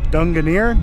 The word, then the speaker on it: Drangarnir: to the sea arch that is pronounced Dunga near dragon ear drug and